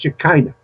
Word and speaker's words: Shekinah: Hebrew pronunciation with Shekinah in English it's pronounced Shekinah they actually Rosicrucians use it